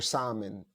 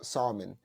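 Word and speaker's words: Samhain: was called wman or Salon uh Salon s it's pronounced s o sa s o w i n is what it's pronounced but it was mainly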